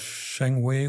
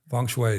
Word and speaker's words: Feng Shui: society because he was a student of Sheng Wei, or whatever you pronounce it, the Chinese art of placing furniture and plants in a certain way. Shui. Feng Shui, yeah, very good. Every time I say it, I mispronounce it.